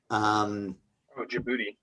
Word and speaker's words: Djibouti: the Gulf of, I'm not sure how to pronounce it. Djibouti.